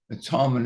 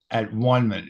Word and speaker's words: atonement: as Ken wing said please don't use don't pronounce it at onement he he he says that so many times so it's atonement it's obviously taken from